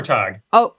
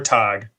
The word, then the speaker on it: Tagg: Tagg. Tag. No. Tag. Like. Togg. Tog. Oh, there you go, Sarah.